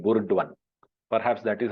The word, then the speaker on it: Burdwan: So it sounds like Burdwan. Perhaps that is how Britishers would have discerned it and then uh, uh, pronounced it, and then that is how they brought it into use.